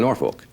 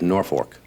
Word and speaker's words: Norfolk: I've been saying Norfolk, like Norfolk Virginia, and it's nor fork, named after the north fork river."